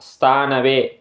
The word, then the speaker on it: ஸ்தாணவே: என்னன்னா ஓம் ஸ்தானவே நமஹ இல்ல வந்து இஸ்ன்றது வந்து சைலெண்ட்ல வரும் ஸ்தானவே மெதுவாக உச்சரிக்கணும் எஸ்தானவே நமஹ ஓம் ஸ்தானவே நமஹ இதுதான் இந்த நாமாவலி இந்த